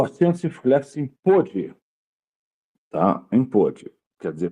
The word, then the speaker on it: pôde: Indica que além da pronúncia da vogal fechada, como em ovo, por exemplo, o verbo está no pretérito passado.